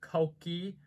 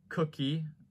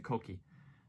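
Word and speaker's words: Kouki: the more aggressive looking headlights and it is pronounced koki not cookie uh that the japanese purist gets really mad about that one so don't call it cookie it's a cokey and of course there's zenki right there winky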